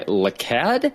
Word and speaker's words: LeCadd: This is a Shura-ending glitchless run of Sekiro, Shadows Die Twice, run by LeCadd, I believe is how you say that. Is that correct? Yep.